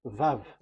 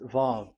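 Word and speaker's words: וו: Vav. So it's V as in Vogue. So it's really V. How to read Vogue? So the word, the shape Vav is really pronounced V, like Vogue.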